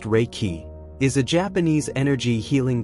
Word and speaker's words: Reiki: Reichi, pronounced Reiki, is a Japanese energy healing technique developed by Miko Yui in the early 20th century.